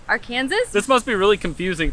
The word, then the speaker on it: Arkansas: Also, the locals, and by those, I mean all the Uber drivers we've had here, have been saying Arkansas. So maybe in these parts, you pronounce it Little and Big Arkansas?